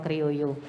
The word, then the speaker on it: criollo: Java criollo touring tanya tapi dibacanya Java cryo jadi Java Kreo ini dibuat dari salah